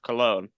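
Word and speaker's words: Colón: Caro from Puerto Rico their name is pronounced cologne uh Miz keeps saying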